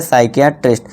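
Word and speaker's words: psychiatrist: अब पी के बाद देखिए एस है। पी के बाद एस है तो इसे क्या पढ़ेंगे? साइकेट्रिस्ट।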